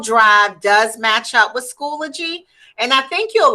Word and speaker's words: Schoology: It's pronounced Schoology.